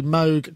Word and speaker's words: Moog: I was playing a little bit of a preview because I've just reviewed the Moog Grandmother. I noticed my pronunciation of Moog.